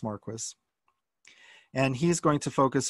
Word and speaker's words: Marquis: emeritus now and again his name is pronounced Marquess and he's going to